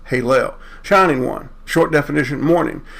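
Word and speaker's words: הֵילֵל: It could actually be Haylel, pronounced Halel.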